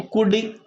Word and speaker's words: could: कूल्ड ना, इसमें एल की साउंड जो है वो साइलेंट है, तो COUD क्या बनेगा? तो कुड की इसका प्रोनाउंसिएशन जो है कुड है, लेकिन एल जो है इसकी स्पेलिंग में एल भी आता है।